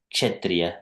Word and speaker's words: Kshatriya: Prabhupada used to pronounce Chatra or Kshatriya, something. Kshatriya, Prabhupada says Kshatriya. So it is actually Kshatriya.